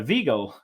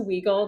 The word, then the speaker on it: Wiegel: That is the correct German pronunciation. Um, I also go by Waggle, the more Americanized version of saying that.